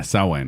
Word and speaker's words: Samhain: learn how to pronounce Samhain. Sam Hain? Sam Hain. Yeah, Samhain. Wait, it's Samhain? Samhain. Yeah. Okay, it's not Sam Hayes the It's Brave. an Irish thing. It's a Gaelic thing.